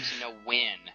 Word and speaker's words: Nguyen: And it's actually James Nguyen. That's how you say it.